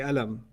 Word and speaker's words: qalam: It is qalam. You're right. It's qalam. What's the first letter in qalam? Qaf. It's pronounced with a q. Yeah. Right? There are places in the Arab world where they say alam.